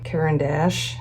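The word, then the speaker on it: Caran d'Ache: nice set of uh gouache dry paint from karen dash is how you say that and i thought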